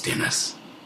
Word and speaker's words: Dennis: And my very special guest today is none other than a man whose name rhymes with menace. It's Dennis.